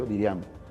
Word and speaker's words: Diriamba: Cuando nosotros llegamos a Jinotepe, y eso fue en Diriamba, Diriamba que se llama, se pronuncia Diriamba.